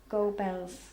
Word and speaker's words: Goebbels: Goebbels.